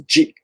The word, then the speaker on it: 自: You will usually pronounce it in combination with other kanjis, and it's pronounced as ji. Ji, so I call it the ji kanji self.